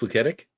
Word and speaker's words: Luketic: that is H Sandro is ltic is it pronounced luketic yeah all right all right Sandro luketic thanks